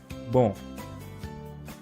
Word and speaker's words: bon: So here comes the first word, that is bon. Bon. Here n is a nasal sound and it's used for singular and for masculine. Whereas second word is bonne. Bonne.